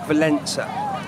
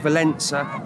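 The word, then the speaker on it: Wałęsa: that was lakeville answer often called let valensa because we can't pronounce polish very well he was an electrician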